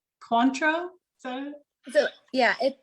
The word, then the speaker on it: Cointreau: Cointreau.